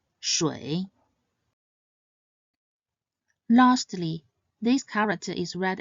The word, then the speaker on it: 水: It is read as 水. Its pinyin is spelled 诗微水 and should be pronounced in the third tone. 水, 水.